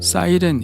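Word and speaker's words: Cyrene: 리비아 에 위치하고 있구요 영어식 발음으로 하면 사이렌 이라고 하는데요 전설에 나오는 이탈리아 반도의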